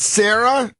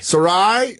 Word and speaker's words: Sarai: We got Sarah in Wisconsin. Is it Sarah? Sarai.